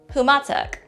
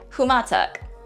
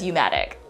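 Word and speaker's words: Humåtak: Humatak. Humatak. This can also be pronounced as Umatic.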